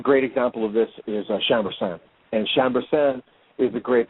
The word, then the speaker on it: Chambourcin: Chambourcin, yes.